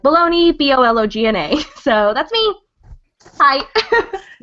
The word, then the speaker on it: Bologna: name, which is, and then Bologna, even though it's spelled like Bologna, B-O-L-O-G-N-A.